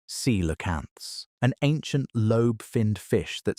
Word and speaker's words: coelacanths: The rivers of the were full of coelacanths, pronounced sea-la-canths, an ancient lobe-finned fish that still exists today in a few isolated populations near the Comoros Islands and Indonesia.